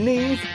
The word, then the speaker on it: Neve: Along with Neve, that rhymes with Steve.